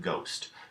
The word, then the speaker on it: ghost: in a syllable and when gh appears at the beginning of the syllable the H in the two letter combination is silent we see this in ghost ghost as a one syllable